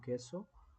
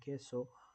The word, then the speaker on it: Queso: There these teams are Scars and Team Queso. QU is pronounced K in Spanish. I'm going to pronounce it like that. I hope I'm doing it right.